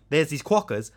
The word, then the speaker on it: quokka: And they're called the quokka. What is it? How do you spell it?